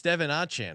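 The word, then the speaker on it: De'Von Achane: any means but he he explained it's Devon aan like it it's I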